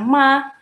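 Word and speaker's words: 妈: Jadi nomor 1, nada ke-1 ma gitu. Cara bacanya ma. Artinya apa sih ma dalam nada 1 itu? Artinya adalah ibu, mama gitu. Cara bacanya mama gitu.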